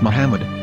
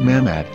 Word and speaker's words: Muhammad: ben yehuda's hebrew english dictionary it is correctly pronounced as muhammad not mahmad so how we're going to know for sure